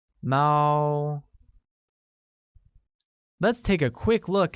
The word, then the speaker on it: 猫: Cat literally translates as 猫, which is pronounced with a high-level tone, like Mao.